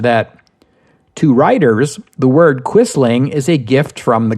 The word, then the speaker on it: Quisling: the Scandinavian languages and in English we English speakers pronounce it quisling this usage appeared almost